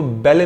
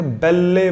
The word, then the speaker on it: belle: एंड the same formulation, इसको अगर पढ़ते तो बेले पढ़ सकते थे, बेल्ले मत पढ़िएगा, जो होता ही नहीं है। Pronunciation बेल। A beautiful girl or a woman is supposed to be a belle.